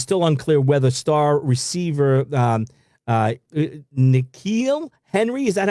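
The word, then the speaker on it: N'Keal Harry: It is still unclear whether star receiver N'Keal Henry, is that how you say his name?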